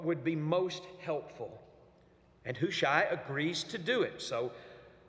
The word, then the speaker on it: Hushai: His name is Hushai. That's correct, Hushai.